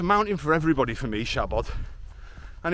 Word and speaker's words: Siabod: for everybody for me Shabad and if you are struggling to say Shabad cuz when we see it written in English we kind of want to say saod but that's because as